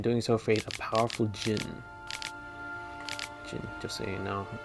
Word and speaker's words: djinn: Oblivious to my friend's warning, I opened it, and in doing so faced a powerful djinn. Djinn, just so you know, it's a silent D. D is silent.